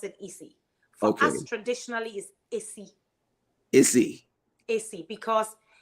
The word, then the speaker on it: Esi: different you will say easy no you will pronounce it easy Focus traditionally is easy because it The Sound